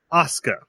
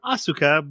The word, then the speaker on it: Asuka: Speaking of suck, whose name is Magical Girl SpecOps Asuka, which is the first problem is I read it as Asuka, but they called her Asuka in the anime.